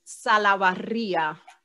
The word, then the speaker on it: Salabarria: It's Salabarria. It's the perfect last name to help you learn how to roll your R's in Spanish.